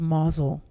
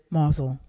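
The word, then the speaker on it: Mousehole: his hometown was a little fishing village in cornwall called mazel it's spelled mouse hole but the natives pronounce it mazel when my dad was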